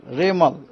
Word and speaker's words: रेमल: उनको नाम होगा रेमल रेमल प्रोनाउंस होगा रेमल उसका स्पेलिंग है आर ई एम ए एल रेमल यह नाम एक्चुअली